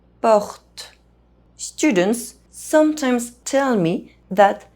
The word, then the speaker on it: porte: First of all, E as the last letter of a French word is silent. Porte.